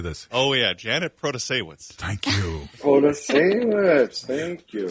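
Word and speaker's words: Protasiewicz: Oh yeah, Janet Protasewicz.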